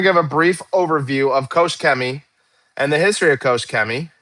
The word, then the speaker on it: Koch-Chemie: I'm going to give a brief overview of Kosh Kemi and the history of Koschi. And that's how you pronounce it. Kosh Kemi, not Kosmi or Kos Kem.